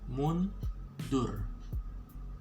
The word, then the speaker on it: mundur: Okay, mundur. This one, the R, you're gonna spell it more vocal, like R sound. Okay, so mundur. Okay, it's like dur.